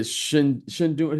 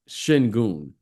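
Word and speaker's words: Şengün: I think this kid Shingun. Am I pronouncing his name? Sengun.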